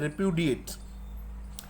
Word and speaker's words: repudiate: उसके बाद में हमने इसका साउंड देखा, इसको सही तरीके से बोलते कैसे हैं, तो इसको बोलते हैं रिप्यूडिएट।